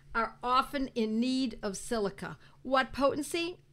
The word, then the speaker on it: silicea: Now let's talk about silica. Silica, S-I-L-I-C-A, or sometimes it's spelled S-I-L-I-C-E-A, silicea, because it's English or it's Latin, and we interchange them.